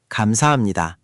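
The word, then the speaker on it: 감사합니다: Kamsahamnida. Good attempt. The ham part needs to be a bit crisper. Think of it like you're gently pressing the H. Not ham, but hum. Quick and clean.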